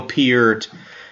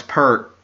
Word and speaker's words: Peart: He said Neil Peart and tried to... when I said, oh, it's Peart.